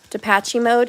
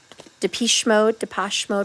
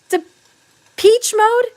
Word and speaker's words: Depeche Mode: I'm hearing Depache mode. I never say it right. Depache mode, enjoy the silence. Depeche mode, whatever.